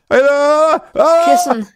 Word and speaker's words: Kissen: Kissen. Kissen. Kissen. Kissen. What the fuck? Really? Yeah, like the English word kiss and yeah.